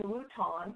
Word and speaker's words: Wuhan: But the other thing people need to know is it happened in Wuhan. Is that the correct pronunciation?